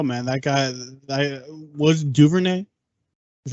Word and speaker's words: Duvernay: you never know man that guy that was Duvernay is how you pronounce it yeah yeah he uh he looked